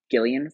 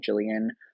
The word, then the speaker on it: Gillian: And actually, I believe it's Gillian Flynn, if I'm not mistaken. At this time, I was pronouncing it Jillian, who I had a friend named Jillian who spelled their name the same way.